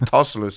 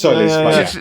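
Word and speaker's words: Tzolis: What did I call him? Tosselis. You called him Tosselis, yes. It's Christos Solis.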